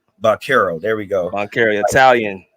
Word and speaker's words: Banchero: Paolo Banchero. Banchero.